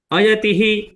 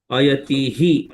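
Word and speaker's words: अयतिः: Ayatihi, like that I did pronunciation. When we recite the last tihi need not be very prominent. It get merged basically. We need not pronounce it clearly. Tihi, like we have to pronounce like ayati shraddhayopeto.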